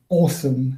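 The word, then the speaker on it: OSoMe: The name of the observatory is Awesome. It's pronounced O-S-O-M-E.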